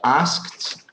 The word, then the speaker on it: asked: less okay asked anyway in English when you have three consonants together you can take out the middle one so you can pronounce something like that as asked so that K is kind of optional okay I mean don't